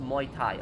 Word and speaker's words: Muay Thai: say what I just said earlier, but it's pronounced Muay Thai.